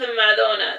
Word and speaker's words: Madonna: Pronounced Madonna. It's like Ma space Donna, because like her last name is Donna.